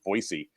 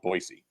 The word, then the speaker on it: Boise: is just the city of of Boise it's pronounced not Boise but boisey is Boise yeah that trust me oh it's a nice town there no I say by trust me you got to call it boisey um the city is fantastic it's like it's